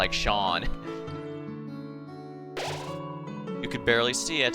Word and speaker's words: Seam: I kept mispronouncing as seam whenever I played it the first time. Even though he directly said it's pronounced like Shawn, you could barely see it.